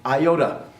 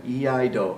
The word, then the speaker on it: iaido: Lots of ways to mispronounce that. If you're old enough to remember the rhyme, Old MacDonald had a farm, that'll help you a little bit. E-I-E-I-do, right? E-I-do is how you pronounce.